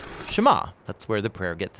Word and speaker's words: Shema: is hear or listen which in Hebrew is pronounced shama that's where the prayer gets its name now Shama is a really common